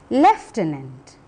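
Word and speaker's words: lieutenant: at the next word it is pronounced leftenant we do not have an F in the spelling look at the next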